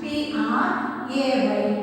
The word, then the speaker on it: pray: This P-R-E-Y pray and P-R-A-Y pray. These two words are pronounced as the same, but the spelling and meaning are different.